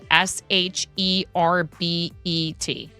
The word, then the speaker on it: sherbet: Okay, there's no second R. It's the word is spelled S H E R B E T.